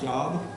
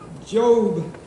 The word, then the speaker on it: Job: in job Old Testament job pronounced job not job it looks like job and uh it's just